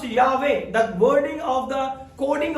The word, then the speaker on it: Yahweh: It's going to be pronounced Yahweh.